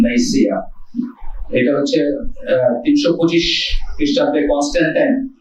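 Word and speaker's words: Nicaea: Actually অনেকে নাইকিয়া বলে, কিন্তু কারেক্ট উচ্চারণ হচ্ছে নাইসিয়া।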